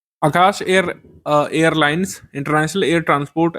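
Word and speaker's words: Akasa: Air India इसमें शामिल है इंडिगो विस्तारा spice जेट और आकाशा एयर यह शामिल हो गया है। इसको आकाश वैसे बोलते हैं लेकिन इसकी स्पेलिंग वैसे यही होती है। ए के एस ए आगे प्रश्न है निम्नलिखित में से कौन सा कथन सही है?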